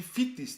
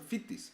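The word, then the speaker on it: Vitis: Das ist so wie Fittis, die Ortschaft im Waldviertel. Nicht Wittis, sondern Fittis.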